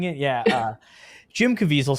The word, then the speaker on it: Caviezel: It's like Caviezel, right? I think it's Jim Caviezel. Jim Caviezel sounds like a weasel. That's how we're saying it. Yeah. Jim Caviezel sounds like a weasel.